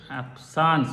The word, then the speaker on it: absence: absent seizure absent seizure means uh actually it's pronounced as hapsan so absence it's french word absence means actually